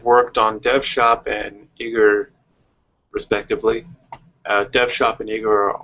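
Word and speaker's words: Aegir: differently i've i've become i've pronounced it asia or aeger but it's eager and uh there were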